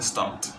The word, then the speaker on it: stopped: Se pronuncia stopped. La P es muy corta.